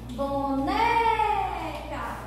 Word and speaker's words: boneca: Boneca, boneca, o né, ok?